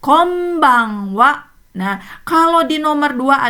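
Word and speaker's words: こんばんは: Iya, sama ya dalam bahasa Jepang juga kombang wa.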